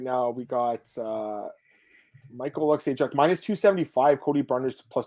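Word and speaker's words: Michał Oleksiejczuk: I believe, excuse me, I keep saying his name wrong. This is the hockey player, Jamie Oleksiejczuk. I always get them confused. Michal Oleksiejczuk.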